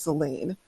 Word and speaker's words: Selene: just so you know, the name is pronounced Selene, like with an A. I know it sounds like Selene, but it's pronounced Selene.